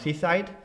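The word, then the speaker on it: CSIDH: seaside uh spelled s-e-i-h-s-o-e spelled c-s-i-d-h but pronounced seaside but we're going to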